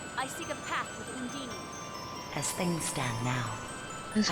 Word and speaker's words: Undine: I seek a path with Undine. As things stand now, Is I that a cannot. line? I forgot they pronounce it Undini.